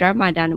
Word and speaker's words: Ramadan: the pronunciation drama then we just say it ramadan without the dh but if you pronounce it in in arabic yeah it will sound different yeah if they know